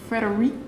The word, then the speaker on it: Frédéric: I'm like, Frederic? Yes. Is that how you pronounce it?